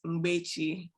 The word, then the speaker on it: Mgbechi: But my first name is pronounced Mgbechi.